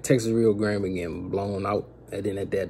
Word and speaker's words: Rio Grande: That's how you say it, Texas Rio Grande Valley.